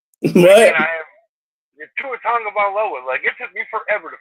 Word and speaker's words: Tua Tagovailoa: But Tua Tagovailoa, I needed to hear that one 150 times before I got it right. What? Tua Tagovailoa, it took me forever to figure out how to fucking say it.